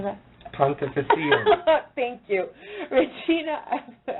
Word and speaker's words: Pontificatum: Pontificatum.